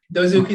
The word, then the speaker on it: Dozuki: of sales development at Dozuki. And once again, kind of like Homer Simpson. Did I say it wrong? I probably said it wrong, didn't I? Dozuki, that's right. Okay, I said it right.